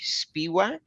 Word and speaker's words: Spiewak: to have, and I'm going to say this the way it seems like it's spelled phonetically, Spiewak. Is that correct? Yeah, that's correct.